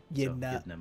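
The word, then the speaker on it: Ydna: Yedna mode. Like Edna mode.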